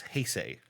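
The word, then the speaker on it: Heisei: Uh, I had to listen to a pronunciation guide to make sure I didn't screw that up. It's Heay.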